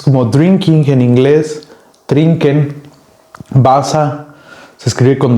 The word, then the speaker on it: Wasser: Wasser se escribe con W-A-S-S-E-R. Si ven otros videos del gracias por ver los otros videos, van a ver que la E con la R al final de una palabra se pronuncia como AR, Wasser.